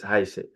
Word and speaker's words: heiße: And you see it in the word heiße, okay? It's heiße. So it's a S, okay, sound in German language.